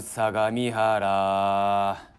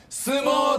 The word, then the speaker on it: 相模: 住みやすいウィーラブ相模原新宿電車れ 40 分街がジャイぞ相模だぞ相撲と読むなよ